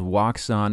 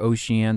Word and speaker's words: Wouxun: It's from a company called Wouxun or Ocean. Some people pronounce it as that.